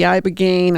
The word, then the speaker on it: ibogaine: So many of these guys go into therapy, the ibogaine. I'm afraid I'm mispronouncing that.